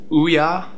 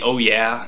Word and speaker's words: OUYA: game system coming out that was announced it's pronounced Ouya but uh I prefer the oh yeah I mean it's o u y a I'm